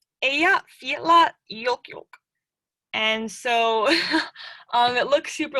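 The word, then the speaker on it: Eyjafjallajökull: So you would pronounce it somewhat along the lines of Eyja Fjalla Jökull.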